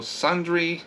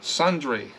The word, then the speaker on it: sundry: just not good at pronunciation it just so sundry is pronounced sundry longy I was calling it sun dry Sun